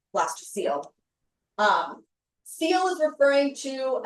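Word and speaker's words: blastocoel: C O E L. So you pronounce this like seal, blaster seal.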